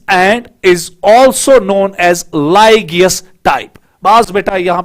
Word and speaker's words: Lygaeus: अब क्वेश्चन ये उठेगा कि सर इसको क्यों हम लाइगियस टाइप कहते हैं? लाइगियस स्पेलिंग अगर आपको यहां पर देखनी है, दैट इज LYGAEUS, लाइगियस टाइप।